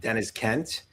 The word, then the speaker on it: Deniz: Looking forward to talking to uh Dennis Kent. Um did I pronounce that right?